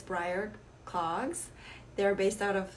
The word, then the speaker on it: Bryr: isabel from briar cloggs i have mispronounced before breer clogs before so it's briar cloggs they're based out